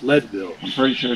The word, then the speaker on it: Leadville: yeah i called it leedville but it's pronounced leadville i'm pretty sure it's leadville because they mined there because it was a mining town of lead yeah makes sense to